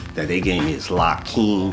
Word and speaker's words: Lakim: my name um that they gave me is laim and my honorable last name is laim is spelled love ala King equality I master and